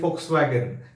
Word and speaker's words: Volkswagen: Okay, for example, if you learn one thing that V in German language is pronounced as F, that's why they call it Volkswagen.